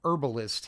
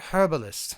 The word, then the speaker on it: herbalist: And Hazard Root Herbalist here. You you want that to be alliterative? I guess if you're English it is alliterative. Hazard Root Herbalist. Now, you got to say it like that.